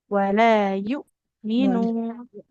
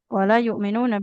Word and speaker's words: ولا يؤمنون: Jangan yu, wala yu, minu. Dia hamzahnya betul-betul ditekan, Ibu. يؤمن والذين ينفقون أموالهم رئاء الناس ولا يؤمنون. Wala yu'minuna billah.